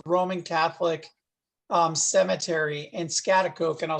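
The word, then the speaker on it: Schaghticoke: in saint john's roman catholic um cemetery and scatter coke and i'll spell it it's s c h a g h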